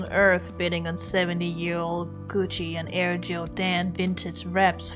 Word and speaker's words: Gucci: You're the only person on Earth bidding on 70-year-old Gucci and Air Jordan vintage reps, Fran. Yeah. It's Gucci, not Gucci.